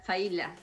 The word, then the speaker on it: Failla: Dijimos bien, ¿es Faila? Sí, Faila.